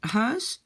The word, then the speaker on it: huis: Het huis, très facile. Le E, donc le UI, prononcé comme E.